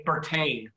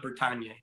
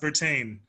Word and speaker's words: Bertagne: And by the way, it's Bertagne, not Bertagne. Bertagne is her last name. All right. Thank you, Julianne. She said, I'll just listen for the moment. It's pronounced Bertagne, like champagne.